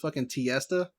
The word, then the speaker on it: Tiesta: to tiesta it's like Fiesta but spelled with tea instead dude they sell some